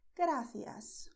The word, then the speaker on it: gracias: So in Spanish, you say gracias or also gracias. And the second difficulty is the way to pronounce here gra, okay?